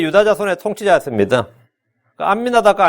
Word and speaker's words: 암미나답: 암미나답과 아미나답은 히브리식 발음과 헬라식 발음의 차이고요.